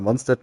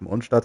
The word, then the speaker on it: Mondstadt: Auch wenn es alle mal Mondstadt nennen, was von der Aussprache hier auch immer so gegeben wird, aber eigentlich soll es ja wirklich Mondstadt heißen. Halt einfach nur, weil es an den Deutschen auch angelehnt ist.